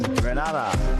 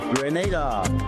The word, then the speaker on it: Grenada: So, today, like we German say, we are in Granada. But I heard in English it's called Grenada.